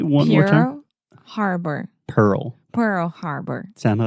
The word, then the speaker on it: Pearl Harbor: Pearl Pearl Harbor yes that RL combination can be quite difficult for a lot of Brazilians and Portuguese speakers that's why I always just recommend slowing it down really articulating both syllables Pearl Pearl there we go Pearl